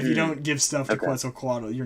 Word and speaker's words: Quetzalcoatl: and then the second son is governed by quetzalcoatl um which i've heard is the like the correct pronunciation um and that is probably the most